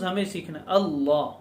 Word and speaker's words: اللہ: ہمیں سیکھنا ہے۔ اللہ، بہت سے لوگ اللہ اللہ بولتے ہیں، اللہ نہیں ہے، اللہ، یعنی یہ لفظ اس طرح بولا جائے کہ منہ بھر جائے عظمت سے، دل بھر جائے، اور زبان اس لفظ کے تلفظ میں منہ بھر کر تلفظ کرے، اللہ اللہ، اس لفظ